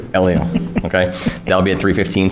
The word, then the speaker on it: Elio: The movie is Disney's Elo. Is that how you pronounce it? Elio. Elio.